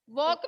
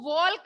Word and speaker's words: walk: वॉक means चलना। इसमें एल है वो साइलेंट होता है, इसको वॉल्क नहीं बोलते हैं, वॉक बोलते हैं, WALK।